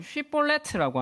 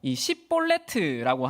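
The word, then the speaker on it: Shibboleth: 그리고 여기에서이 두 단어가 흥미로운 것은 이제이 쉬볼렛이라는 발음은 원어로 쉬볼렛트라고 하는데 이것은 강의라는 의미가 있습니다. 그래서이 단어의 의미처럼 몰렛이라고 하면이 흐르는 강물처럼 그 나루턱을 지나갈 수 있었던 것이죠. 그리고 반대로 이볼레트라고 하면 이것은 이삭이라는 의미인데요.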